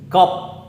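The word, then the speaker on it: 겁: Gop, gop, gop, gop. Bukannya pakai biap, tapi pakai p ya. Gop, gop. Yang belum belajar baca pasti pelafalannya pakai b, bukannya p. Harus pakai p.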